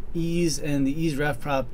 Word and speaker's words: EES: EES which is pronounced e is an acronym for Engineering Equation Solver starting with version 11.47 7 ease and the EAS ref prop interface have been